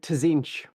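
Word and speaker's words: Tzeentch: pronounced zenith all right I was called it tazinch just to get that extra tea is very much pronounced you'll already get those extra no silent letters are allowed in in the chaos gods you'll all of those letters will be said out loud yeah I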